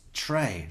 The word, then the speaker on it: Trey: with a silent Z it's Tray like the uh like the uh the Clashing of a high hat symbol it's Trey like Anyway kind of warrior